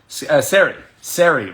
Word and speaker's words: Sari: Her name is Sari, rhymes with scary.